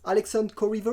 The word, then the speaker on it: Alexander Korriva: pronounce it you got it's a french name so you got it pretty well actually it just like sangria uh yeah that's pretty much it i mean that's just how you pronounce it there's nothing else to it so if i